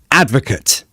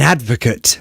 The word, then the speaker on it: advocate: verb as a noun Advocate I'm an advocate for this but as a verb I advocate advocate so remember the pronunciation is different for a verb versus a noun so be careful with